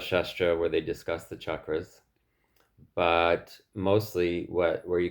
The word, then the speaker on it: chakra: oh by the way the word is not chakra a lot of people uh who speak English say chakra It's written in the Roman alphabet. It's written with a ch. And ch is not sha in most languages. It's cha.